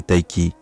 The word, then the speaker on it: Tayc: De son vrai nom Julien Bouradier, Taïk, qu'il faut prononcer Taïki, né le 2 mai